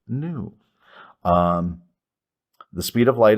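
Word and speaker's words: nu: Lambda new this is the Greek letter new pronounced new um the speed of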